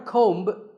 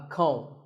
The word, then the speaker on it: comb: Not a comb, a comb.